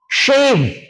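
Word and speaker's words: shave: शेम सेम शेम सेम शेव शेव हम लोग शेव करते हैं ना शेव बोलते हैं इसको हम लोग क्या बोलते हैं अगर इस चीज को सही से प्र नहीं करेंगे तो फिर इन दोनों में क्या अंतर रहेगा एस एवी और एस एच एवी राइट तो इसे हम लोग सेव बोलेंगे एंड दिस इ शव शव शव शव य सुनकर बहुत हसी आती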